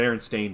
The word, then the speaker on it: Berenstain: the berenstein bears yeah it's actually the berenstain bears i've never been that